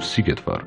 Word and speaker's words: Szigetvár: He is known all across the Europe for his defense of Szigetvár. Yes, I finally learned how to pronounce it.